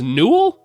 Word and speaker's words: Newell: I believe it's pronounced Newell, maybe even? I think it might be pronounced Newell. We could listen to it here, or we could just see how wrong I am by the time that we get to the actual videos. No, it's pronounced Newell. Okay, it is pronounced Newell. I've been saying it wrong this whole season, which, you know, pretty on par for me.